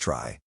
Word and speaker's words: trie: the dictionary of prefixes a try pronounced try is a tree like